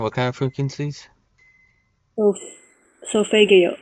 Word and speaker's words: solfeggio: It's called solfeggio. It's the best frequencies. Can you say that one time? What kind of frequencies? Solf, solfeggio. Sophadio?